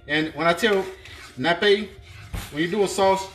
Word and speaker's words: nappe: And when I tell nappe, when you do a sauce, the consistency you want is nappe. Not nappy, but nappe. Okay. All right. And what I mean by nappe is, you should be